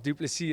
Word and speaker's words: Du Plessis: used to saying it the S of duplicity is silent and that seems to